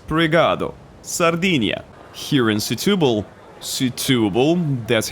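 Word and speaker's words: Setúbal: Setubal, that's how they told me it should be pronounced, Setubal.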